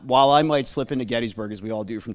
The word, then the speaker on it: Gettysburg: there are times when his name is spelled G E D S. So yes, so if you needed any further evidence besides Tim's good word that you should be saying Gettysburg, there it is in documentation for you